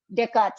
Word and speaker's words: Descartes: और आप स्पेलिंग ऐसी लिखते हैं उनके बारे में, पर ये थे Descartes.